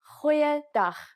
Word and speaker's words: goeiedag: Try pronouncing it from the back of your throat. Goeiedag, goeiedag, ek is Anne-Marie Luck.